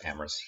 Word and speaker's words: Amorous: I'm starting I'm amorous amorous rhymes is glamorous if you ever wondering how to pronounce it so if you want